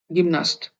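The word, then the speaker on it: гимнаст: यह है गी, म, न, स, त, गिम्नास्ट। यहाँ भी देखिए जो स का साउंड है ये कम हो गया है, गिम्नास्ट।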